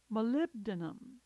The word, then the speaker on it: molybdenum: Molybdenum, molybdenum. This one looks tough, but it's really pronounced phonetically.